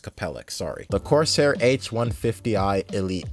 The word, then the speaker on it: Capellix: Okay, it's pronounced Capellix, sorry.